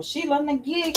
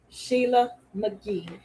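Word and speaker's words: Sheela na gig: I accept Sheila McGee. Oh, is that how you say her name? Sheila McGee? It's a G-I-G. Gig.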